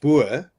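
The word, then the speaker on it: Boer: well the the word bur as a racial slur towards Africanis. Obviously, we don't care. So, so I mean, if you call me Abur, that's how you pronounce it.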